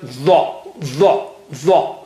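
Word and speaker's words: ظ: The. And you make your mouth a little bit round.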